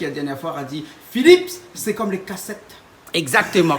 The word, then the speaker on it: Phillips: Philips. Faut bien prononcer le S à la fin.